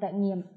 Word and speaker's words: trải nghiệm: Tiết 3, hoạt động trải nghiệm. Để giúp các em đọc được bài này thì các em chú ý đọc đúng các từ sau. Trải nghiệm. Các em lưu ý âm trừ, thanh hỏi.